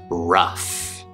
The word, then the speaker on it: rough: There's also the uff sound, uff, which is a short U sound, plus an F sound, f, uff. And you'll see this in words like tough and enough and rough.